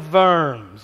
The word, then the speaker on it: Worms: called the diet of Verne's now it's spelled in English diet of worms but you pronounce the W as a V and it's not a